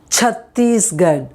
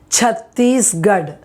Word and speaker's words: Chhattisgarh: pressure on that first letter there, that first syllable part. So it is chair. Now this one is a place in India, Chhattisgarh. Okay, Chhattisgarh.